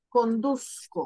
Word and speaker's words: conduzco: Pero la Z no se pronuncia, Se pronuncia como una S. Conduzco, ¿cierto?